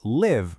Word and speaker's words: live: Take live versus leave. I live here. That's our short relaxed I sound again.